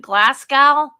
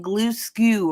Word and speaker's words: Glasgow: And I don't know what word he was using in place of Glasgow, but Glasgow, yeah, it's spelled like it sounds, Glasgow. He was saying glue skew or something.